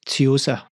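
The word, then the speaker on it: Tsuyosa: We pronounce that Tiosa.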